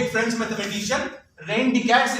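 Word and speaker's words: René Descartes: थे एक फ्रेंच mathematician rain डिकैट्स इनका नाम है. स्पेलिंग कुछ और है बट प्रोनाउंसिएशन रेन डिकैट्स है.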